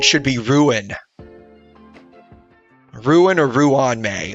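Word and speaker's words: Ruan Mei: Ron doesn't like Fanfare and probably wouldn't appr Ron may as the researchers they're they're pronouncing this as Ron I feel like it should be ruin ruin or Ruan may like it shouldn't be just Ron May wow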